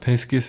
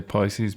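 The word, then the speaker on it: piscis: the page as well it's pronounced piscus isn't it because it's Roman it's Latin but I guess most people say Pisces because they don't want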